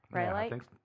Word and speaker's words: rhyolite: I think that's how you pronounce that, right? Rhyolite?